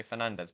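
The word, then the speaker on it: Fernandes: Or is it Bruno Fernandez? A lot of people say Fernandez, but I swear I pronounced it Bruno Fernanch.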